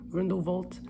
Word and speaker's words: Grindelwald: you know situation with Grindelwald or grindel vault I like pronouncing it the right way but I always forget